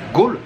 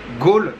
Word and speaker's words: Galle: bien arriver à gaulle ça s'écrit ga 2 m eur mais ça se prononce goal com le général de gaulle ou ou encore autre chose mais oui ça se prononce bien gaulle et on vient juste